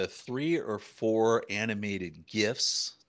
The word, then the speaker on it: GIF: Yeah, and I've actually got like three or four animated GIFs. Yes, it's pronounced GIF. I'm sticking with that.